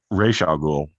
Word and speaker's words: Ra's al Ghul: to pronounce his name, but the heir to Ra's al Ghul, or Ra's al Ghul. Sorry, apologies. That's his proper pronunciation.